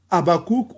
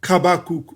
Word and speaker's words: Habakkuk: C'est pourquoi Habakkuk, on peut prononcer Habakkuk ou Kabakuk. OK, vous comprenez? Parce que le het peut avoir le son du H ou le son du K.